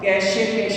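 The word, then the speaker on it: cache: कैशे बोलते हैं, कैश pronunciation, ठीक है।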